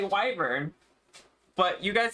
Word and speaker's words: wyvern: I forgot how to pronounce uh Weburn. Wyvern. Is it Wyvern? I don't know. She's killing me. Help. Wyvern.